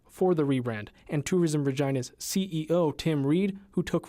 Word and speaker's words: Regina: jokes that capitalize on how the city's name rhymes with vagina a phrase that the Rolling Stones used when they visited the city in 2006. someone told me you know Regina just it rhymes with